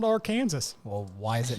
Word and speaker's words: Arkansas: Why is it pronounced Arkansas, but it spells Arkansas, right?